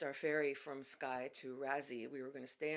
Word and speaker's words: Raasay: I think it's pronounced Raasay, not Raasay. I've heard natives of the island or people who work on the island call it Raasay, so I'm going to call it Raasay.